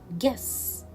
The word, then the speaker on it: guess: the last word is guess yes so here i will not pronounce letter u and i will read